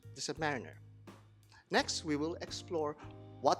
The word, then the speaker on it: Submariner: world the Submariner and that's how you pronounce the Submariner next we will explore what makes the yacht